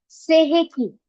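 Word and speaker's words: Sei He Ki: Second होता है सेह की। से की स्पेलिंग होती है एस इ आई एच इ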